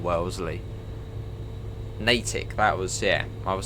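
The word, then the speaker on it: Natick: no one's corrected me yet on saying Wellsley natic that was yeah I was saying that wrong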